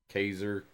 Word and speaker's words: Kaser: Kazer, it's going to be hard for me to not pronounce it Kaiser. I know there's no I in that, but for some